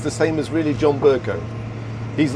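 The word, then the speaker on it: Bercow: That's how you pronounce it, John Burko? Burko, yes.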